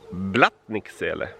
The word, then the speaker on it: Blattniksele: Okay, the first one is pronounced Blattniksele.